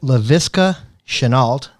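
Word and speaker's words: Laviska Shenault: I don't know how to pronounce his name, so we're going to go with it. LaVisca Chenault.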